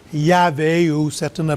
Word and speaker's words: Yahvé: La dernière fois, on a regardé Elohim, puis ce matin, on est rendu à Yahvé, ou certains le prononcent Jéhovah.